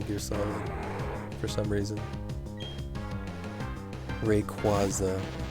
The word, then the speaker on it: Rayquaza: just accepted that because if you like phonetically sound it out it should be rayquaza unfortunately even though it